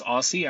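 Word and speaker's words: OSSI: Tom Michaels, professor of horticulture at the University of Minnesota and founder of the Open Source Seed Initiative, pronounced Aussie.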